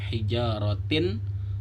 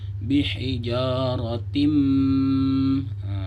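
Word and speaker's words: بحجارة: Yang tadinya seharusnya dibaca hijaratin, karena dia bertemu dengan huruf mim, maka dimasukkan ke huruf mim. Bihijaratim. Jadi masuk beserta dengung, idgham bi gunnah. Lalu yang kedua ada hukum nun sukun yang bertemu dengan sin.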